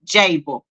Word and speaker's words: Jable: It is pronounced like table with the J, Jable.